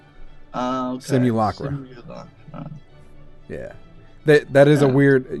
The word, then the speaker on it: Simulacra: So it's like simulation opera. Okay. Simulacra.